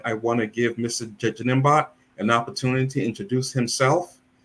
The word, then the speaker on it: Njinimbot: Again, my name is Njinimbot, and the N is silent. In my last name, it's not pronounced.